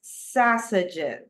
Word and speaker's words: sausages: it correct remember that the pronunciation of this word it's quite tricky right but listen carefully it's sausages sausages okay sausages so there you go